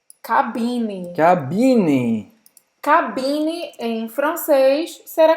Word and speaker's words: cabine: Não terminar com esse. Tem que terminar com N.